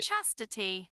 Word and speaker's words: chastity: one too women's Chastity it's like chaste and Chastity Chastity Chastity it's like yes